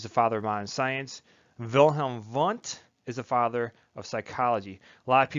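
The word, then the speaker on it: Wilhelm Wundt: because he's german so in german you pronounce the w's like these all right so i say wilhelm vant that tends to stand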